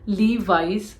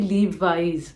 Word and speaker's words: Levi's: Xiao me xiaomi again many people call it Levi's but again at the end you have to have that z sound so it should be leave wise it should be Levi's Lee wise lastly it is not